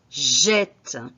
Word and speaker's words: jette: dernière personne du pluriel j'ouvre la prononciation du e de ce e au lieu de jeter ses je jette c'est le mec qui